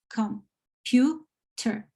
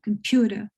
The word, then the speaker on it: computer: Whereas a word like computer, this is computer, 3 syllables, okay? One only of these syllables will be pronounced higher or stronger than the other 2, okay? And it's mostly in this case, it's the middle one, so computer. The one in the middle is more stressed than the other 2, okay?